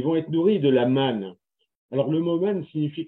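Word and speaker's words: מָן: Mais ce qui est certain, c'est que la manne, quand les gens disaient c'est le pain qui tombe du ciel, eh bien, le pain, ça veut dire en hébreu, ça se prononce man, manou, et ça veut dire quoi?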